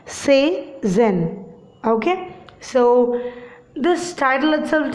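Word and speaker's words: Cézanne: Okay, you need to pronounce it as Cezanne.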